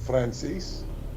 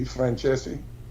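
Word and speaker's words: Franzese: himself Michael Fran Fran Frances he doesn't pronounce his right name right in Italian this is what his family is known by it it should be franchese uh something along that lines but they call himself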